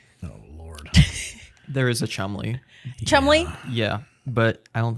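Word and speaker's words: Cholmondeley: they like to yes they like to pretend 90% of the letters aren't there according to British pronunciation that is pronounced Chumley Chumley Chumley it is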